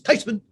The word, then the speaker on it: Theismann: She says, actually, the correct pronunciation is Theismann, and that's closer than what we have now.